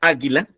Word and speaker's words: águila: Porque en esta palabra águila, ¿dónde está la sílaba más fuerte? Ándale, ¿no? Vemos que en esta palabra águila, la sílaba más fuerte está en la primera A, ¿no es cierto?